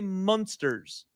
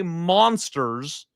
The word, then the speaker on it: monsters: I used to make fun of my father because he would say Munsters with a U, as in like the Munsters, the show back in the day, black and white, comedy style. He doesn't say monsters.